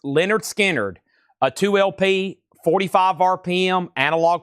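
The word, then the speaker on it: Lynyrd Skynyrd: Leonard Skinnard, pronounced Leonard Skinnard, a 2LP, 45 RPM, analog productions, $64.99 for Leonard Skinnard.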